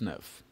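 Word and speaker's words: dix-neuf: last number and this nerve of course is for 19 how do we spell this nerve d i x hyphen n e u f this Nerf brilliant and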